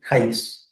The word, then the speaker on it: Jaimes: Sí, James, ¿cómo es que se pronuncia su apellido? James.